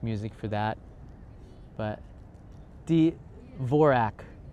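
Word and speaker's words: Dvořák: for that but the vorak the d is silent in d'vorak see I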